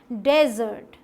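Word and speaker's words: desert: सही क्या है, डेजर्ट, डेजर्ट। सो अगर डेजर्ट बोले मतलब कि डे पे हमने दे दिया स्ट्रेस, तो वो रेगिस्तान हो गया, और डिज़र्ट बोला तो वो खाने वाला हो गया, स्वीट, ठीक है, मीठा।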